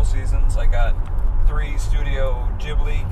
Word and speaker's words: Ghibli: I got three studio ghibli Gibble's urban films you said it right first Ghibli not for $9.99 they're